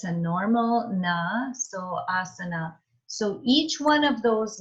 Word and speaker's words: asana: And then our sa, and then it's a normal na, so asana.